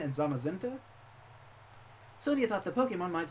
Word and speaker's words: Zamazenta: It's pronounced Zacian and Zamazenta.